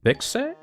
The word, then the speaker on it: Vixe: Vixe? By Beast Marrow. Vix. She, her. Yeah, okay, it's pronounced Vix.